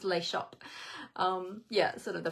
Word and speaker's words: Les Shoppes: l-e-s Liz shop s-h-o-p-p-e-s so it looks like less shoppies but it's pronounced lay shop um yeah sort of